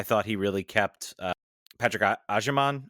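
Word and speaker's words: Agyemang: First half, I thought he really kept Patrick Agerman. I think I should know that name. I'm just making sure I pronounce it correctly. You got it right.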